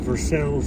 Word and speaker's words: Versailles: small town known as as they say around here in these Parts versel Kentucky it's a French